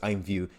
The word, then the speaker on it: IMVU: this um article here i'm view imvu it's pronounced as i'm view to integrate immutable x